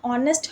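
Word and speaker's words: honest: अगर आपको कन्फ्यूज़न आ रहा हो कि यहाँ पे एच है तो एच यहाँ पे साइलेंट है, ऑनेस्ट हम इसको पढ़ते हैं, इसीलिए ओ से स्टार्ट हो रहा है वर्ड, दैट्स वाई हम यहाँ पे एन टर्म का यूज़ करेंगे।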